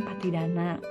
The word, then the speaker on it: Pattidana: Nah, bagi yang tradisi Theravada itu biasanya kita bacanya Patidana.